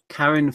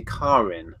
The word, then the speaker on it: Karin: Lucy, Adam, Karen Fisher, which is apparently Karin, I think she said in our last chat. We've all been saying it wrong, so that's Karin, I believe.